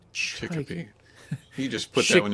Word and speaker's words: Chicopee: British pronunciation. Yeah. Kind of without the accent. What? Chickpea. Chickpea. Chicopee.